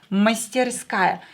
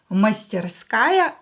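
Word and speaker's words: мастерская: work shop mr skye i is stressed here mystery sky don't forget to practice with me out loud and copy my pronunciation master sky a workshop and let's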